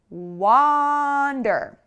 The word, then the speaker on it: wander: So take a look at when I say wander. What is happening? Wander. You have to really open, and make that ah sound.